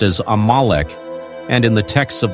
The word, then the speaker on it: Amalek: mystery that spans Millennia in Hebrew it is pronounced as amalik and in the texts of the Hebrew and